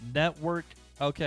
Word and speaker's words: Netvrk: i do know that the v and the r are intentionally together in the word to represent vr or virtual really reality so it's network okay i get it it's